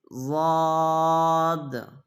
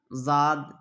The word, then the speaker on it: ضاد: ضاد ہے، وا ہے۔ یہ چاروں حرف کے تلفظ کیا ہیں؟ الگ الگ ہیں، بالکل الگ الگ ہیں۔ لوگ عام طور سے سب کا تلفظ ایک ہی کر دیتے ہیں، جال، جا، زاد، زا، سب کا تلفظ الگ الگ ہے۔ ذال، ذال، ذال، کیا ہے؟